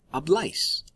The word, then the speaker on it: habláis: In Spain, they would say AIS with an accent on the A, like habláis.